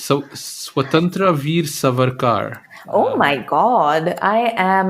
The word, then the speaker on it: Swatantra Veer Savarkar: then there's one that I how do I pronounce so swatantra Veer savarkar oh my God I am absolutely shocked at